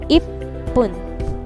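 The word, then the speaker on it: いっぷん: At pag binasa yan, itong dalawa ay magka-dugtong. Okay, kaya babasahin niya ng ip. Ip, and then the next syllable, pun. So, ang pagsyllable niyan ay ganito. Ip-pun. Ip-pun.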